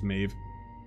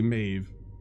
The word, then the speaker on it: Maeve: Don't get any ideas, Maeve. I know you pronounced, the voice guy said Maev, but it's totally Maeve.